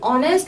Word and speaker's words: honest: Again, honest, like H is silent, an.